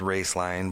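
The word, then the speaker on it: Roeslein: for a company called race line alternative energy pronounced race line but spelled ro es el e I n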